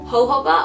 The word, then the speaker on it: jojoba: And then the last oil is jojoba oil, and it's spelled with a J. It's kind of hard to say. Jojoba.